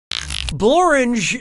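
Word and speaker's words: Blorenge: oh don't be ridiculous borange is a real place and it really rhymes with orange but if you visit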